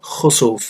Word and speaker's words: Kusuf: It can be pronounced Kusuf or Khusuf, it means the same thing.